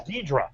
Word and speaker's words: Ghidorah: For years, it's been tough to me to pronounce King Ghidorah. Right. I always heard it. They always pronounce it as Ghidra.